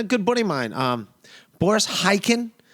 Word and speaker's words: Khaykin: And today, man, we had on a good buddy of mine, Boris Khaykin. I am pronouncing his name correctly. There's a silent K in there.